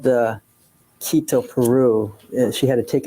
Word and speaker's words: Quito: Argentina have you heard of a place called Quito Peru is that how you pronounce it yes sir is that where Mrs